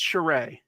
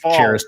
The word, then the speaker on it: Charest: I'm pretty sure it's Charest. So Charest. And there's an artist often probably pronounced cherished by most people.